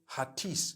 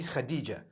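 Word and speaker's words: Hatice: In Turkish, some people spell it H-A-T-I-C-E. I would say Hatis for that. No, it's actually Khadija.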